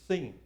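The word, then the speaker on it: שׂ: that tells you whether to pronounce it as a sin or a sheen. And if it's on the left, it's sin. If it's on the right, it's sheen. So you pronounce it like sh if it's on the right, or s on the left.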